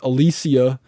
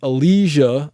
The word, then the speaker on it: elysia: the whole time I used to call it Alicia it is pronounced Elijah Alicia like Elite and then Elijah I found